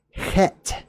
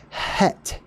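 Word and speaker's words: Heth: ladder that's the letter it's a hard guttural they call that a guttural sound whenever you you cause the back of your throat to sort of close up and then you breathe through it that's a guttural pet some people couldn't do that though right so with accents and dialects over time it was just het or het or some people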